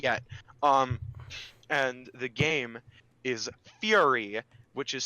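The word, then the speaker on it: Furi: don't play it yet and the game is fury which is spelled F URI and it's really cool I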